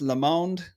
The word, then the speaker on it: Lamond: His name is Lamond. I pronounced that correctly ish. Perfect. Love it, Perfect.